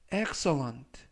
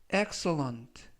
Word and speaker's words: excellent: 어젯밤에 생생한 꿈을 꿨어라는 뜻이 되겠습니다 이번 표현은 excellent excellent excellent라고 발음하시면 되겠고요 강세는 맨 앞에 있는 알파벳 2에